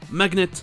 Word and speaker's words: magnet: Et la plupart du temps, quand GN est dans un mot, le G n'est pas muet. Et c'est un hard G, comme dans magnet.